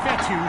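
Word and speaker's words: Fetu: so coach fethu spelled f-e-t-u for the longest time i was pronouncing it coach feda like feta cheese so let's just say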